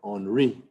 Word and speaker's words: Henri: You can call it not Henry, but Henri. Henri caught 10 turtles plus Traron.